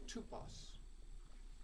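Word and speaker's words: τύπος: It's the Greek word tupos. You might spell it T-U-P-O-S. The second letter in that, in the Greek, is the upsilon, which can be represented by the English Y or the English U, as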